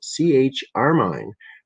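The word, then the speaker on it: ChRmine: The Stafford team expressed in the brain cells of mice a powerful new opsin called CH-armine, pronounced like the deep red color carmine, discovered by Desseroth's group last year in a marine organism.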